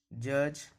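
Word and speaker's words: judge: जब भी डी के बाद जी रहेगा तो हमेशा डी साइलेंट रहेगा, इसको ब्रीज पढ़ा जाता है। जज, फ्रीज पढ़ा जाता है।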